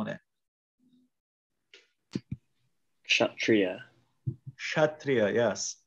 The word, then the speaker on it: Kshatriya: And one important note is in Bengali, this letter is pronounced differently.